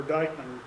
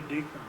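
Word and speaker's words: Dyckman: And one late casualty was another Westchester guide name of Brahma Deakman or or Dykeman people tend to pronounce it should be Deakman.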